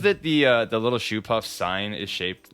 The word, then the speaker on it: Shoopuf: over again you keep saying show puff because there is a delivery service near philly you were in philly called a go puff yeah i think they pronounce it that way too we're getting we're getting money no it's it's shoe puff in both versions uh oh walk is